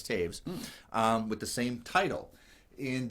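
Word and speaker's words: Toews: That's how you say it, Taves. It looks like toes, but it's Taves, with the same title.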